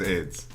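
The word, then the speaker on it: Ayds: ] look this up they pronounce it as aids yeah it's a yds this was like before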